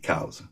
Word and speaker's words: Coues: And he writes C-O-W-Z, cows.